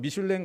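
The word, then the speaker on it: Michelin: 프랑스 타이어 회사 중에 미쉘린 타이어가 있습니다. 여기서 해마다 발아나는 잡지가 있는데요. 똑같은 말이에요. 프랑스 말로는 미슐랭이라고 하고 영어로는 미쉘린이라고 읽는데요. 여러분 미슐랭 가이드라고 하는 책을 아실 겁니다.이 책이 처음에는 자동차 운전자를 위한 안내서였습니다.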